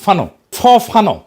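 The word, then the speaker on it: Fanon: ফরাসি আলজেরিয়ান চিন্তাবিদ ফানো নাম আসল উচ্চারণটা, উনি বলছিলেন, পরাধীন জাতিগোষ্ঠী লড়াইয়ের ভিতর দিয়ে নিজেকে চিনতে শেখে।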